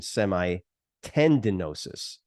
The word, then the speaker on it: semitendinosus: York so you know forgive me for my pronunciation semi tendinosus so semimembranosus semitendinosus and those are your uh